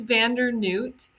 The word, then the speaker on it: Vander Neut: It's Vander Noot.